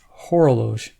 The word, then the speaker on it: Horologe: do the final thoughts on the yeah this pronunciation horloge yes hora Loesch i you know it took me a while